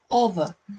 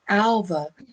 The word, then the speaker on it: Alva: They say Alva because they like to say the A like the other, when that's not actually the case.